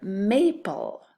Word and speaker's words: maple: This time we don't double because this A is a long A and we want it to be an open syllable, so it says may.